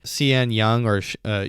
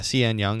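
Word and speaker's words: Sean Young: Cian Young, Cian Young, I believe is how you say her name.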